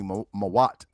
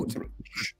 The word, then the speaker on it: Mut: mother, it's spelled MWT, which would be Mawat. Not no, Mut.